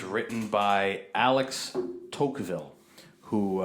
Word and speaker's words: Tocqueville: It's written by Alex Tocqueville, who, I think that's how you pronounce his name, Tocqueville. And upon reading the introduction, apparently this is a monumental piece of literature regarding America.